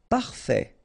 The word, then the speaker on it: parfait: Don't insist on the final Parfait. Final T not pronounced.